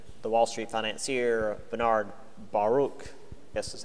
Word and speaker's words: Baruch: 1918 um when the Wall Street financier Bernard Baruch this is how his name is pronounced uh took over labor mobilized National War